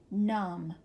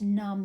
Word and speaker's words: numb: the top these are the MB words some of them which say mmm here we go dum plum Lim lamb num and of course num means to have no feeling numb okay let's read the